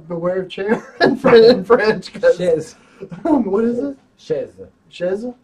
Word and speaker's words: chaise: Chaise.